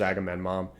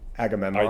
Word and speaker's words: Agamemnon: It's spelled differently than I would have spelt it, but Agamemnon. Agamemnon. Yeah. I think you're throwing in a mom at the end there.